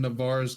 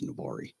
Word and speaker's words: Navarre: And I was like, wow, the guy actually pronounced it correctly. He's like, yeah, I used to live right down the road from there. Nice. I was like, that's the only way. Everybody up here says Navarre.